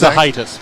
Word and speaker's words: Zahaitis: Zahaitis. With an I. Zahaitis. Yeah. Zahaitis. Lithuanian.